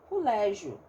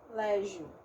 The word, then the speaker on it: colégio: Eu poderia ter, por exemplo, tem gente que fala colégio, né? Talvez você já tenha se deparado com pessoas que têm essa pronúncia. Como eu também posso ter colégio, né? Com um O mais aberto aqui, tá?